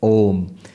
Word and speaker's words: Om: that's not correct Because by the rules of Sanskrit grammar when you bring a and u together it becomes O So om is the correct pronunciation pronounced together becomes om now what the upanishad